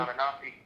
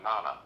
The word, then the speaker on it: Inanna: I can't pronounce her name. Anunnaki? Yeah. You're talking about Inanna.